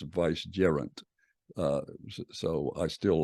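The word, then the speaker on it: vicegerent: Regent uh or vice gerant and I've been pronouncing this vedant uh but uh a dear friend said well if you look it up online it's supposed to be pronounced Vice jerant uh so I still like the way viant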